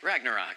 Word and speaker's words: Ragnarok: the latest Thor movie Thor Ragnar magnet rock Ragnarok Ragnarok yeah I lost confidence then I thought